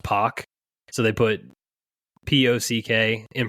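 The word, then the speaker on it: Pak: So you got John, here's one, John Pack. It's actually pronounced Pock. So they put P-O-C-K in parentheses, rhymes with rock.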